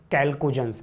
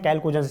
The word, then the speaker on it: chalcogens: इसका नाम है कैल्कोजेंस। क्या बोलते हैं? कैल्कोजेंस।